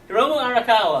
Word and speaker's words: Hiromu Arakawa: Hiromu Arakawa.